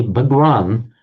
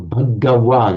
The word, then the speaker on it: Bhagavan: Right, so that, in fact, the Bhagwan, or Bhagawan, you pronounce the ga properly in Sanskrit, is the nominative form.